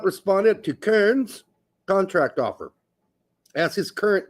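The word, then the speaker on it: Köln: But with the umlaut has a ER-ish sound. Kern. Kern.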